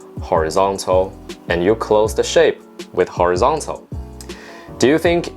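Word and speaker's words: 下: the fourth tone together Shan Mian Shan Mian sha men shunya that means up or on the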